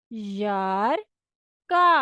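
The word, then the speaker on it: жарко: यार का यार का अगर आपको य की स्पेलिंग नहीं समझ आ रही तो आप इसको इस तरह भी पढ़ सकते हैं। यार का जब हम तेजी से पढ़ेंगे तो वह यार का ही बनेगा।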